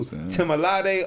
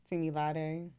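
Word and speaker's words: Temilade: She's about to correct you because you done messed up that pronunciation. The pronunciation. Yeah, Timilade.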